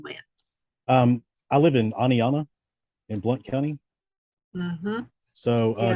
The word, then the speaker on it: Oneonta: about something happening and they'll say Oni Anna yeah or one Uncle I've heard that a lot yeah yeah we have